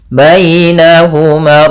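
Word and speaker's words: بينهما: Bainahuma ar-rahman. Baina, di sini pada lafal baina ada ya sukun yang didahului dengan fathah. Ini bacaan lin, yang dimana dalam pelafalan ya-nya harus lembut.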